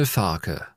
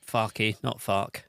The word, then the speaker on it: Farke: sounds like authentically and it is there we go Daniel tharker Daniel which is what we've been saying like rhymes with Scott Parker or Peter Parker yeah if you want to deal with it in Spider-Man terms yeah um so not far key not